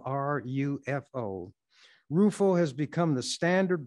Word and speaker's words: Rufo: the lgbtq community and so forth almost overnight roofo and some may have never heard of him his name is spelled r-u-f-o rufo has become the standard bearer for a